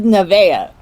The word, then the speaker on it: Nevaeh: blackhand blackhand yeah is are you sure it's not pronounced never blackhand excuse me it is nevaeh it's it's i'm it